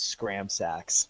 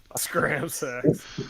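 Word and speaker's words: Scramsax: fiddly winks so actually i realized just a moment that i've been pronouncing it wrong too it's scram sacks whatever scram sacks you know his name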